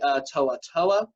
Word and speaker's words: To'oTo'o: They're returning their quarterback, Jarrett Guarantano, and they're also returning their best defensive player, in my opinion, is linebacker Henry To'oTo'o, which is how you pronounce his last name.